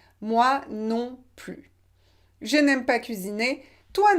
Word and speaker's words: moi non plus: moi non plus et on ne prononce pas le s final moi non plus je n'aime pas cuisiner